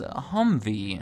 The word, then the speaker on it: Humvee: Mobility multi-purpose wield vehicle a hmmwv that thankfully they simplified to be pronounced as Humvee as the name implies